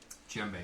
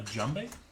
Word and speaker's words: djembe: Djembe. I need a djembe. A what? A djembe. A jumbe? A djembe. A djembe? The D is silent.